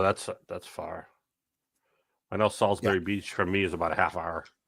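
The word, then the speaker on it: Salisbury: be at Sal well we call it Salsbury Salsbury uh Beach the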